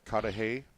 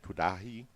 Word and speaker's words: Cudahy: Cudahy. Some people pronounce it Kudahi.